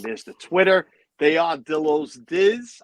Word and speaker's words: Dillo's Diz: the twitter they are dilo's dizz i want to make sure you say it correctly you know my accent pillows there is an s there he is frank she